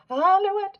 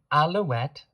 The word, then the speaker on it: alouette: My point being alouette has one L. So the L is pronounced.